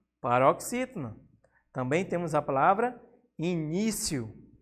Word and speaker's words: início: Também temos a palavra início. Temos aqui o ni, né? A penúltima sílaba tônica.